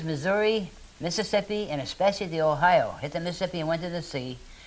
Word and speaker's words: Ohio: In fact, Ohio is an Iroquois word, only they, as usual, they don't pronounce it right. It's Ohio.